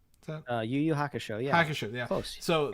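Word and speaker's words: Yu Yu Hakusho: um uh and I'm gonna I'm going to butcher the name again unless you tell me get right YuYu hush show that YuYu Haka show yeah Haka show yeah so you know that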